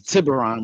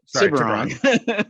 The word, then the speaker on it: Tiburon: I thought that was, first of all, it's Tiburon. We're gonna pronounce it right. Tiburon.